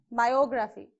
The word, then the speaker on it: biography: Now biography. Similarly, how many syllables? Biography. So again in between I and O.